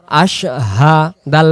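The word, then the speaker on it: أشهد: ইলাহা ইল্লাল্লাহু আশাদু আশাদু আশাদু না আশাদু বললে এখানে শিন অক্ষর পরিপূর্ণ আদায় হয় না এখানে উচ্চারণ হবে হামজা সিন জবর আশ হা জবর হা আশহা দাল পেশ দু আশহাদু আশহাদু আশহাদু আগে বলে নেব আশ এরপরে হাদু এভাবে আশহাদু আল্লা ইলাহা ইল্লাল্লাহ ইল্লাল্লাহু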